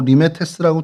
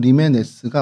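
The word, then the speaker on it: Λιμένες: 그래서 요거 한글로는 뭐 리메테스라고 돼 있는데 실제로 발음은 리메스가 맞습니다. 그래서 요렇게 모습을 갖고 있고요.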